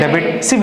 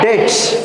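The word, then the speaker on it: debts: डेबिट। सिर्फ लिखेंगे क्या इधर पता है? बैड डेट्स। क्या लिखा है? बैड डेट्स। डेट्स, हाँ, डेब्ट्स मत बोलना, बी साइलेंट।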